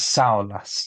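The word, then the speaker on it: saola: Now I struggled with that because we were discussing how you pronounce the name of the antelope Saas and it's Saas just in case you're wondering.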